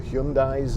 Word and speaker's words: Hyundai: gearbox very reliable cars hyundai's but hyundai's as they're supposed to be pronounced i think the airbags